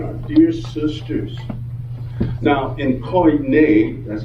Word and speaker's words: Koine: Now, in Koine, that's how you say it, Koine Greek, the language that the Christian Greek scriptures were penned in, the word honor is time.